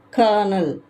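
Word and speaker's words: colonel: sixth ஒன்சி o எல் o எ இ எல் கர்னல் கர்னல் ஏழாவது எம் ஐ ஆர்ஏ சி எல் இ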